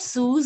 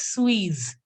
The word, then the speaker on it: suis: It's not Suze, it is Suisse.